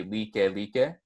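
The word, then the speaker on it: Lāʻie: one is Like Like, or it's spelled like, but when you pronounce or when you enunciate it with the piapa, it's going to be Like Like.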